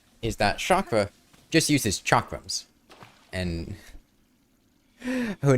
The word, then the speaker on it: chakram: that chakra just uses chakrams. And her name is basically just chakram without an M. And, pronounced with an SH, which is how a lot of people, I think, mispronounce chakram. I shouldn't have parried there.